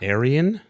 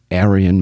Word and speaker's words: Aryan: Aryan? Aryan Minor. Spelled like World War II way? A-R-Y.